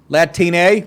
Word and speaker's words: Latine: Ocasio-Cortez went on to claim that while Latinx is more convenient in written form, can you imagine spending this time? Another gender-neutral term, Latin, I guess that's how you pronounce it, like latrine. Latine.